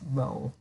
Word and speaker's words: rho: very small role by the way this is pronounced as Rho Rho resistance graphs were already said are use